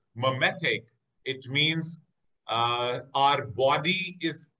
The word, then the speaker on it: mimetic: meaning of caloric restriction mimetic works. The pronunciation of this is mimetic, mimetic. It is not mimetic, it is mimetic, mimetic works.